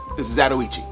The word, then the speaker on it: Zatoichi: It's Zatoichi.